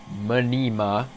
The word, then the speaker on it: Mnima: know who and what Minima is manima is pronounced manima because they're from Greece and it's spelled out